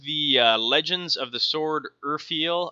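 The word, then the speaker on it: Urfael: Legends of the Sword Urfiel. I think it's pronounced Urfiel anyways.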